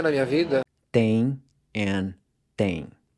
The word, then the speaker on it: têm: Tem and tem. So these two words are pronounced the same way.